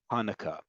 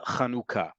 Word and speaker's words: Hanukkah: I know there's a tendency among especially fellow Americans be they Jewish or not to pronounce this holiday like Hanukah folks Hanah in modern Hebrew is breastfeeding it is the act of breastfeeding no less miraculous no less important but that is not the name of this holiday in modern Hebrew hanaka means breastfeeding the act of breastfeeding this holiday is called kanuka okay and it's called